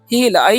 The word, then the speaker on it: heal: तो एच से क्या होता है, ह होता है, और ई साथ में रहेगा ना, तो ई का उच्चारण क्या करना है, दीर्घ कर देना है। तो हो गया ही, और एल से हो जाएगा ल, तो हो गया हील।